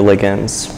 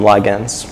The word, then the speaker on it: ligand: Yeah, for British people, they're ligands. Americans call them ligands.